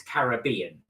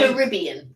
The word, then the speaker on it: Caribbean: or American so I Caribbean is the way that you pronounce it I always say Caribbean I always say Caribbean yeah it's Caribbean because we're from the UK but it's to the Caribbean